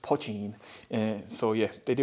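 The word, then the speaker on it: poitín: pochine means small pot so it's part in pronounced pachine and so yeah they they also do poaching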